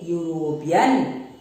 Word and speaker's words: European: You see, a European, EU, though E has been used here, but the word is pronounced as U, which is a consonant.